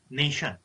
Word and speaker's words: nation: if I talk about pronunciation part, Tion is shun, not sun. You were talking about, you were saying nation, something like that you talk. So kindly have a sharp and accurate pronunciation. That is nation.